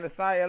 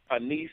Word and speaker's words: Anissa: Anasaya Long? Did I say her name Yeah, her right? name is pronounced Anissa Long. Anissa.